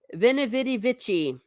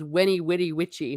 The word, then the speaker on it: Veni Vidi Vici: Veni Vidi Vici. I pronounce it with the ecclesiastical pronunciation. I guess the classical is Weni Witty Witchy, but it's a good quote.